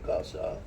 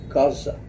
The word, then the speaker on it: Gaza: receive images of, say, Gaza. So this little thing, if you notice when I say Gaza, usually we pronounce it in a certain way, Gaza. I cannot say it like that anymore.